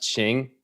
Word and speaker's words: Qing: Qing Dynasty stuff Queen with that Q so it's pronounced Ching okay how they did